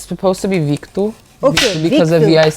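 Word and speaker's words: Vitor: pronounced it's it's pronounced well if you like pronounce my name the way it's spelled in Portuguese it's vku but my parents don't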